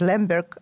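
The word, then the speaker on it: Lemberg: pronounce it leave or you can pronounce it Lambert as it was in in Germany uh which was the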